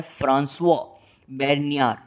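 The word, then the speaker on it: François Bernier: ये फ्रेंच थे, तो ये नाम फ्रेंच हुआ, तो इसका फ्रेंच लैंग्वेज में प्रोनाउंसिएशन होता है फ्रांसवा बेर्नियर।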